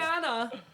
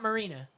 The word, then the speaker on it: Mariana: Mariana snailfish. It's not Marina. So Mariana.